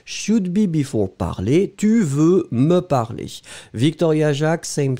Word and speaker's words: veux: Ice Cubes, be careful, tu veux, V-E-U-X, hein, remember, we don't pronounce it, but should it should be there.